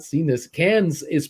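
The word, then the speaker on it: Cannes: Cans is pronounced con as an ex-con.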